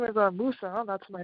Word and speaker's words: Musa: you say your name uh musa m-u-s musa musa okay m-u-s-a yeah okay you're a